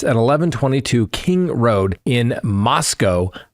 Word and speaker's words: Moscow: So, so photographs from the interior of the residence at 11:22 King Road in Moscow, Idaho, rhymes with Costco, where four University of Idaho students were fatally stabbed, have been disclosed to the public for the first time.